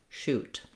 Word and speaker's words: shoot: So if you have no difficulty with the word shoe, you just add a T sound for shoot.